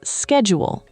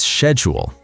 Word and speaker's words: schedule: Oh, this word has 2 pronunciations. In American English, it's schedule. And in British English, it's schedule. Both are correct. It depends on which English you are learning. Yes, American English says schedule, British English says schedule.